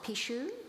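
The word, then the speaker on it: pixo: Ineri is a Pishadora, a practitioner of Pishu. Am I pronouncing that correctly?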